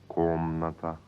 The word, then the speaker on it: комната: Like komnata, a room, pronounced komnata.